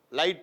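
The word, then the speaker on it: light: அல்லது ஐய தொடர்ந்து gிஹடி அப்படி வரணும். லைட் எல்ஐஜிஹடி லைட்.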